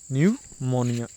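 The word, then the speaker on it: pneumonia: है, PNEU यहाँ से स्टार्ट कीजिए आप, PNEU, न्यूमोनिया, MONI, ठीक है, इस प्रकार से। तो निमोनिया की जो स्पेलिंग होती है, अब निमोनिया क्या होता है, बैक्टीरिया के थ्रू फैलता है।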